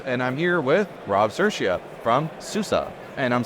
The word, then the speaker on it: Sirchia: cpon in Paris and I'm here with Rob cersa from Susa and I'm saying that correctly right